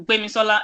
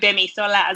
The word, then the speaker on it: Gbemisola: Yoruba is very, like, tonal. So if Yes. name, for example, Gbemisola, a lot of people can't sing, but even you said Gbemisola.